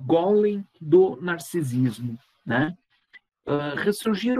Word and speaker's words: Golem: não é verdade né Golem se escreve como se pronuncia g u l e